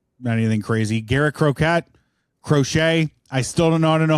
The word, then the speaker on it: Crochet: I mean, those are 6 really good names, and you pronounce 4 of them right, which is pretty good. Pretty good. It's Crochet and it's Tarek.